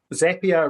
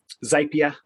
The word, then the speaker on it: Zapier: about me so uh zapier rhymes with happier uh just uh for for quite a few years i called it um zapier but uh apparently i